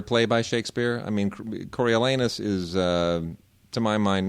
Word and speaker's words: Coriolanus: They would call it a Crayola anus.